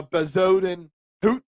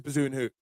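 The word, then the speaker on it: Bezuidenhout: do like Christian bazin it's actually uh Bodin hoot or I forgot I I was practicing how to say his name right but then I kind of went right back to bazen hoot um I do actually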